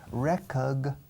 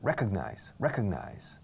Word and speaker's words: recognize: Recognize. Si no puedes decirlo bien, no os preocupéis por la G en medio. Recognize. Casi no se dice.